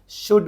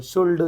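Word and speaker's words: should: जी एच हो गया शुड बोलते हैं अपन शुल्ड शुल्ड बोलते बहुत सारे बच्चे शुड नहीं बोलते अपन इसमें क्या बोलते हैं शुड बोलते तो एल की आवाज क्या हो जा रही है साइलेंट हो जा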